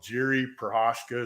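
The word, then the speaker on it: Jiří Procházka: holds the belt now took on uh oh Jerry perosa is how you say his name and uh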